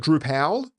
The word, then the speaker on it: Drupal: on Drew or as some people call it drew pal I remember one person calling drush D so I've never heard it pronounced that way anyway head over to the